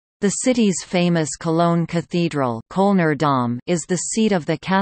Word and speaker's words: Köln: Cologne, English, German, Köln, pronounced Cone, listen, Ripuarian, call, Kohl, listen, is the